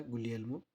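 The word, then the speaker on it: Guglielmo: ये गुलियल्मो वर्ड थोड़ा सा डिफिकल्ट था, इसलिए मैंने इसको लिख दिया था गुलियल्मो, ऐसे प्रोनाउंस करेंगे, जिन्होंने रेडियो का इन्वेंट किया था।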